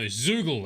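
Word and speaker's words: Zeugl: something there we go he's an eagle no zoogle that's how you say it say it zugo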